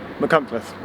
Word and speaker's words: Machynlleth: go as far as is it now mccomforth right how's my pronunciation on the conference it's pretty good they divide the company